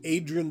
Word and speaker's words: Adriaan: I pronounce Dutch words and names the way a Dutchman would pronounce them.